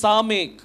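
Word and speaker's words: סמך: இதனுடைய உச்சரிப்பு வந்து சாமேக். சாமேக் அப்படின்னு சொல்லுவாங்க.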